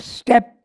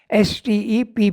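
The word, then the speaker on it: steppes: a step as pronounced if it's written s t e p p e s but it is pronounced step I checked it we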